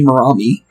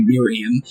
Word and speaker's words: Miriam: say for a second I was wanting to say murami but the thing is I'm pretty sure it's supposed to be Miriam we said it right